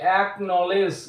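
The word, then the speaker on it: acknowledge: ঠিক একইভাবে অ্যাকনলেজ অর্থাৎ এরপর ডিরেক্টলি কে উচ্চারিত হচ্ছে, এখানে সি উচ্চ সাইলেন্ট থাকছে।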